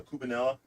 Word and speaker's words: cubanella: It's spelled Cuba Ella, but it's kind of like a double L in Spanish is actually a yuh sound, kind of like double L. You don't say tortilla. Double L is there as You well. know? Say tortilla. You make a yuh sound out of it. I say tortilla. Yeah, tortilla. Tortilla. And so this is, since it's spelled with an E-L-L-E at the end, it's Ella, but you say it yeah.